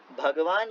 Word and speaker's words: भगवान: है ना, तो वह, तो ये भ ग व और न जो है नीचे हलंत लगा होता है, वो थोड़ा सा साइलेंट जैसा माना जाता है। तो इन सारे सिद्धांतों को मिलाने से भगवान शब्द ज्ञान, शक्ति, बल,